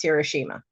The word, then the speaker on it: Hiroshima: My Aunt Michiko was from Hiroshima, which is the actual right way to pronounce Hiroshima.